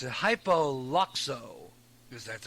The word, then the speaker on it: Hypoluxo: Now, this is according to a report from Florida, but it comes out of, I can't even pronounce it, Hypoluxo, because that's how you pronounce it.